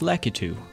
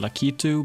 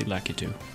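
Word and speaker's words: Lakitu: more random characters in the game which is lackey two and yes that's how i pronounce it some pronouncing lucky two but i say lackey too i really like his regular tricks but his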